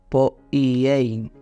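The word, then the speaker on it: ποιεῖ: hacer en Santiago 4:17 es poiei, creo que se pronuncia. Es la palabra, se la deletreo por si quiere tomar nota y luego buscarla, es P-O-I latina E-I latina N, poiei.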